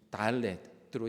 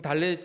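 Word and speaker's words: דלת: 오늘 네 번째 시간이니까 히브리어 네 번째 단어인 달렛으로 시작하는 그런 말씀입니다. 그럼 달렛 글자가 어떻게 되어 있는지 한번 볼까요? 저렇게 되어 있어요. 우리나라 첫 번째 그 한글인 기역처럼 되어 있지만 발음은 드 발음이 나는 달렛입니다.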